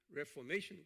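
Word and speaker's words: Reformation: 자, 오늘은 이 종교 개혁의 레포메이션 그래요. 레포메이션, 메이션, 여기 액센트 여기 있어요.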